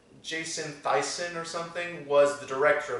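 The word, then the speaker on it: Thiessen: Though I think the director, Jason Theisnes, I think his name is? I think it's pronounced Thyssen. Jason Thyssen or something was the director of this movie.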